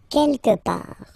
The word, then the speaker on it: quelque part: Don't pronounce the final T. Quelque part.